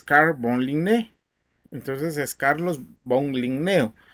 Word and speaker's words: Carl von Linné: Carlos Linneo es el nombre en español tal y como se le conoce, pero si lo pronunciamos como se debe de leer o escribir, es Carl von Linné.